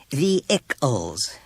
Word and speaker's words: vehicles: She said brightly when he had finished reading, It's pronounced vehicles. Richard. No H. Accent on the first syllable.